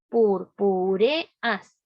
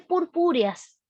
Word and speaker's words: purpúreas: Uno debería así, al separar las palabras, decir purpúreas, pero no dice purpúreas.